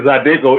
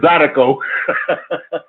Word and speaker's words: zydeco: I was laughing the way when you said the word, when you were saying Zydeco, it's Zydeco.